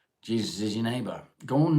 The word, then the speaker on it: Jesus: Pronounced Jesus like Jose.